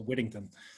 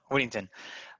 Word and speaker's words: Whittington: So it's a lot of D's. So Whittington. Yeah, Whittington.